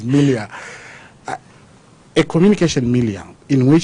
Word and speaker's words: milieu: Well, I think some of you use the word milieu. The proper pronunciation is milia.